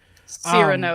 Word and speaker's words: Cyrano: Cyrano, you barbarian. I pronounced it correctly. No, I'm not you gonna said say like Cyrano. You said I like said Cyrano. Girno. No. Cyrano.